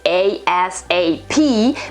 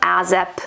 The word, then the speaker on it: ASAP: acronym and it is a-s-a-p but it has become a word and that word is pronounced is usually pronounced asap or azap sometimes the meaning is always